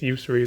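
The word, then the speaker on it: Yusri: One thing about this card, I see a lot of people pronouncing it as Usuri, but it's Usuri.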